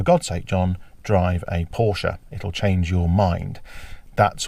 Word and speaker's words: Porsche: So here I am then in the Porsche Cayman S, and yes, it is pronounced Porsche.